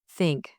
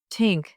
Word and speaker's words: think: Place your tongue lightly between your teeth and blow air out. Try this. Thanks. Now slowly. The Hanks. Repeat it several times. Now try. Think. Slowly. Tink.